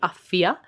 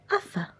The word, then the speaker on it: Uffa: My mum insists that she should be called Uffia because that's more feminine, but she hasn't actually used it. So we've been very clear that the way we pronounce it is Uffa.